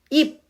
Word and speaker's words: 입: 입, if가 아니라 입이라고 비읍으로 발음이 되죠?